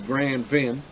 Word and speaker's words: Grand Vin: i'm pronouncing this correctly it's spelled grand vin if you're just reading it like an american you know like uh the guy from uh glorious bastards arrivederci so it's grand van so his wine every